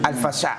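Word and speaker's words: El Fasher: the right pronunciation, Al-Fashar. Al-Fashar.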